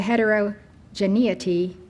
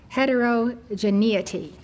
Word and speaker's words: heterogeneity: about unity in the heterogeneity that was Hindustan or northern India. Heterogeneity. Heterogeneity. That is the pronunciation. You see the spelling.